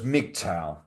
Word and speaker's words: MGTOW: Now you pronounce men go their own way as MGTOW.